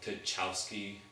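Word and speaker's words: Tchaikovsky: beethoven all those people to chowski that's how you pronounce it the guy that wrote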